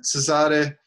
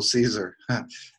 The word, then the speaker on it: Cesare: Cesare. Yeah, it's pronounced Cesare. I think originally it's from Cesare, but it's also Caesar, if you want to go with the English pronunciation.